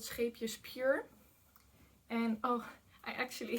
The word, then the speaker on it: Scheepjes: It's called Scheepjes Pure. And oh, I actually have to say that I always laugh when I hear native English speakers pronounce this yarn brand, because they pronounce it like sheepjes, and sheepjes in like would be like half